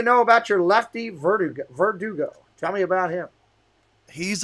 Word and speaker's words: Verdugo: i'm saying it right i get yelled at all the time for verdugo verdugo so it's kind of like an o so verdugo well at least i'll